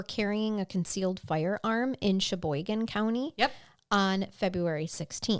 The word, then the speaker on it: Sheboygan: Sheboygan, but it's still pronounced Sheboygan.